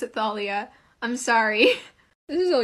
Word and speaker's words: Thalia: I watched once by the mythology guy, he pronounced it Thealia. So, I just started saying Thalia. But, I looked it up and the internet has informed me that it's actually Thalia.